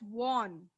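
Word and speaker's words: Vaughan: This name is pronounced as won. Okay? अरे तुम लोग बोलेगे वुगान है क्या है? No, it is won.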